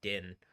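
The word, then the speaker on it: דין: book of Daniel is the word din, like in Star Wars Din Djarin.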